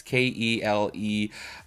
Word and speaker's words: Keleigh: Kaylee? I don't know. It's Keleigh.